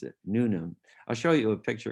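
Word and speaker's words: Newnham: and when we went the british proclivity to ignore a lot of the letters it's called newman uh yeah no new num new num that's the proper way to pronounce it nunem i'll show you a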